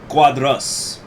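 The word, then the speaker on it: Quadros: pronounced giannio uh and the cuadros is more like excuse me cuadras so even though there's the oh it's making the uh sound so janio da silva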